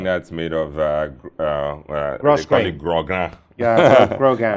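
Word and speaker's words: grosgrain: Grogan. Grogan. I said gross grain some time ago, and I almost got crucified. Oh, really? Oh, okay. But it's Grogan. I think that's the way it's pronounced.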